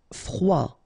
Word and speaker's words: froid: Froid, final D not pronounced.